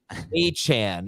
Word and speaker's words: Achane: Achane is how he wants it pronounced, according to Adam Schefter.